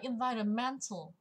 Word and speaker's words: environmental: danh từ, nhưng mà là tính từ thì chúng ta lại thấy là trọng âm và man. Nó là environmental. Cứ có mental, mentory thì trọng âm nó sẽ nhận vào man.